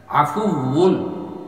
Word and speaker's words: আফুউন: আপনিও বলো, আল্লাহুম্মা ইন্নাকা আফুউন, এটার উচ্চারণটা হবে, এটা কিন্তু ওয়াও, বাংলার ব নয়, আফুউন, ঠোঁটটা লাগবে না, আফুউন, আল্লাহুম্মা ইন্নাকা আফুউন তুহিব্বুল আফওয়া ফাআফু আন্নি।